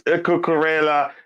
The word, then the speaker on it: Cucurella: Yeah, it is Cucurella.